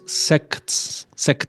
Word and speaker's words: sects: Sorry to interrupt and to correct, but pronounce sects, because if you say it too short, sounds like something else, different.